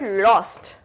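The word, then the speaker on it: lost: बट लॉस्ट बोलने में देखो, लॉस्ट, होस्ट, हो, लॉ, हो, लॉ. डिफरेंट साउंड है. हो या हो लो होना चाहिए था, बट ये क्या है? Law. Okay, so इट्स लॉस्ट.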